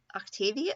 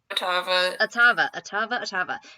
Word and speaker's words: Ottava: Laura's gonna turn to Octavia. No, I keep saying it wrong. Ottava.